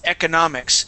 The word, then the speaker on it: economics: a sound okay so when I pronounce the word it's economics so I bounc through that second syllable to get to that third one which is the stronger of the two stresses okay economics information okay